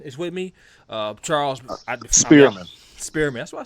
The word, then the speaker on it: Spearman: time you know spirit but I experiment but Spearman instead yeah this one's made sure I said